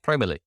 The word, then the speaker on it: Promoly: our website which is promerly which is https then forward slash then promo dot l y that's pronounced probably and then create a